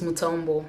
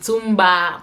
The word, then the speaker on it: Mutombo: name my name is Mutombo I don't know why people find his name so difficult to pronounce I've heard also some derivatives of this name with Zumba with Dumbo my tumba I don't know it's